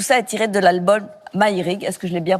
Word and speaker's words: Maïrig: Et tout ça est tiré de l'album Maïrig. Est-ce que je l'ai bien prononcé? Maïrig, ouais, très bien.